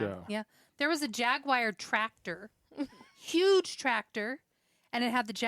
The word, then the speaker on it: Jaguar: Oh, it's not Jaguar. No. It's Jaguar. Jaguar. Spelled the same.